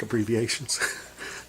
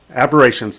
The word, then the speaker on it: aberrations: See, chromatic abbreviations. Okay, aberrations.